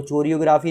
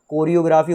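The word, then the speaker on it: choreography: बोलना भी सीख लो चोरियोग्राफी नहीं होता या वो चोरियोग्राफर नहीं होता कोरियोग्राफी होता है वो कोरियोग्राफर होता है कई बार सुना होगा जहां सी एच हो ना वहां एच साइलेंट सिर्फ सी से काम बनता है को का कबूतर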